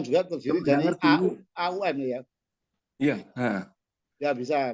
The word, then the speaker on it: AUM: Bacanya AU ya. AUM.